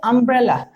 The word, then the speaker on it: umbrella: a double l a here the u is not y u we say umbrella so the answer will